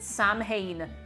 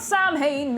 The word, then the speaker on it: Samhain: Yes, and if I ever see anybody pronounce it Samhain, you gotta fight me. You gotta fight me. It is not Samhain, it's Samhain. Samhain.